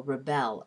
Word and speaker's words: rebel: That difference is a change in stress. As we speak, we naturally stress some syllables and leave other syllables unstressed. In the first example, the pattern in the word rebel is stressed then unstressed. In the second example, the pattern in the word rebel is unstressed then stressed.